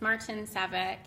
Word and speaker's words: Martincevic: my last name is Martina it's a very ethnic name but if you want to know how else I may pronounce it it's March and Saavik and I'm really excited